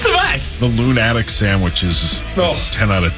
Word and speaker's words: Loon Addict: Loon Addict. See, there you go. That's different. That's spelled like addict.